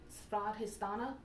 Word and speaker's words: Swadhisthana: I will attempt the Indian pronunciation, Swadhisthana.